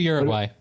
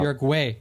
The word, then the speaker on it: Uruguay: Look it up on Wikipedia. Look at the pronunciation. See what it says. I speak Spanish, motherfucker. It's Uruguay. Uruguay.